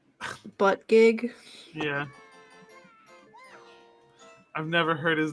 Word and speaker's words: Buttigieg: I forgot how to pronounce it. It's Buttigieg. Yeah.